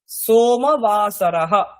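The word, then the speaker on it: सोमवासरः: সোমবাসরः, সোমবাসরः। মনে রাখবেন এখানে সোমবাসর বলবেন না, বা সোমবাসর এরকমও নয়, সোমবাসরः।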